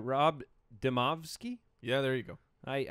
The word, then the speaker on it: Demovsky: of us all right ESPN Packers reporter Rob deasi I didn't pronounce that right Rob demovsky yeah there you go I I don't get